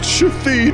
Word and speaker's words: Shithead: It's pronounced Shafid.